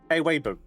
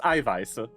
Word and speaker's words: Eiweiße: I witnessed someone do the classic American mistake of thinking the SZ is pronounced like a B. Oh. Yeah, of course. And they pronounced the German word for protein Eiweiber. Eiweiber. It's pronounced Eiweiße, which is plural.